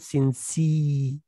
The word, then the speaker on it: sincere: هذا الرجل إيه مخلص خلي بالكم في الصفة بقول sincere أما في النون بقول sincere يبقى sincerity sincere ليه؟